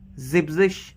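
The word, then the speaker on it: siebzig: तो उसी तरह से फिर 70 जिब्जिश, इसमें भी जीबन जो लगाते थे हम, जीबन ई एन हट जाता है पूरा 70 के केस में।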